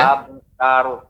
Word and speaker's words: abtar: Abtaru. Iya. Tidak boleh ya, tapi juga tidak terlalu tipis abtar, tapi pengucapan yang tepat abtar.